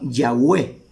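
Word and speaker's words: Yahweh: original y que ellos al pronunciarlo lo pronunciaban yahwe era la pronunciación no que era el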